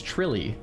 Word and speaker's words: Trilly: Guys, I've asked Trilly how to say it and he said it's Trilly. I mean, if you want to argue with how you pronounce his name, don't argue with me. Argue with the guys whose name it is. He He told me it's Trilly.